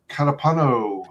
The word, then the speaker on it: Catapano: wyman joined today by very special guest joe calapano how's it going doing good doing good you pronounce my name correct i know it's a